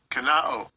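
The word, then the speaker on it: κενόω: In the Strong's G 2758, the pronunciation. Strong's G 2758. Kanao.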